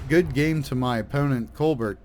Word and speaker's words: Colbert: game to my opponent Colbert that was uh or or colar if if you're going with the French pronunciation very good fight a